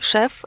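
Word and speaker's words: chef: В английском же шеф – это в основном шеф-повар. Причем вот здесь важно отметить, что пишется оно C-H-E-F, но читается шеф. По правилам чтения во французском.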